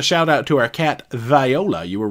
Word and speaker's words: Viola: out to our cat viola you were right on the name pronunciation Viola see it's not Viola it's like a southern lady barin says I can